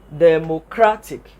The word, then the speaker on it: democratic: So the word is now going to be pronounced democratic. Democratic. Because in finding the primary stress, it is the word, the syllable that has the loudest pronunciation that is the correct syllable.